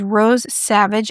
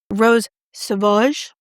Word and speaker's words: Rose Sauvage: The next shade is Rose Savage, and this is number 842. Rose Sauvage. Beautiful. It's nothing like I pronounced it. It's Rose Sauvage.